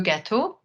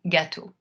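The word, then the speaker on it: gâteau: start with something simple how do you say cake in French that would be Lu ghetto or in the plural li ghetto now if you're studying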